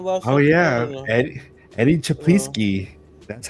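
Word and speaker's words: Czaplicki: we mention that last oh yeah Eddie Eddie chapi that's how you say it yes go check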